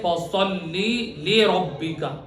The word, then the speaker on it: فَصَلِّ لِرَبِّكَ: کیجئے۔ وَصَلِّ لِرَبِّكَ وَانْحَرْ۔ صحیح تلفظ ہے فَصَلِّ لِرَبِّكَ، لوگ اس کو غلط تلفظ پڑھتے ہیں فَصَلِّ لِرَبِّكَ، یہ غلط ہے۔ فَصَلِّ لِرَبِّكَ فَصَلِّ لِرَبِّكَ وَانْحَرْ إِنَّ شَانِئَكَ هُوَ الْأَبْتَرُ۔ اس کا ترجمہ کیا ہے؟